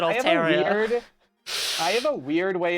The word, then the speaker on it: Altaria: mulligan on that one Altaria I don't like the way I say it all Terror I have a weird